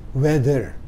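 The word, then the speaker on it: whether: teman-teman nah yang ke-33 ini wether hati-hati tulisannya beda ya walaupun ucapannya sama dengan weather cuaca ya How is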